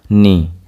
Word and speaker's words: knee: Here K will be silent. Knee. Knee. Here K is silent.